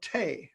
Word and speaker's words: tea: they've all gone away that's supposed to rhyme with tea and in the 18th century and early early 19th century when the brine was written people said in england said tay they didn't say tea you know that from